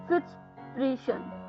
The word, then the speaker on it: fitspiration: इसी के साथ जो 12th वर्ड आ रहा है दोस्तों इस शाम का, वो है फिट्सप्रेशन। फिट्सप्रेशन, जी हाँ दोस्तों, फिट्सप्रेशन। फिट्सप्रेशन, फिट्सप्रेशन यानी कि पहले स्पेलिंग बताती हूँ, FITSPIRATION, फिट्सप्रेशन।